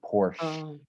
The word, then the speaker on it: Porsche: do you say porsche we don't pronounce the c in the word porsche we just say porsche like sh i think we also